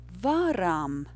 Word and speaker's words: varam: The rhythm is yes, no.